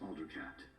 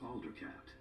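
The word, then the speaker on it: Aldercapt: things in this game i didn't know it was alder cat i thought it was alder capped like cap not alder cat like alder you know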